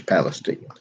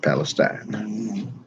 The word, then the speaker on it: Palestine: Just an aside, folks, if you go to Texas, it's Palestine, not Palestine. There's an old-time music festival